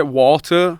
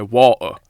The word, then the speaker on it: water: I say water, but I pronounce the T. Obviously, if you're from Bradford, you say water. You know what I mean? Like, you don't even say the T.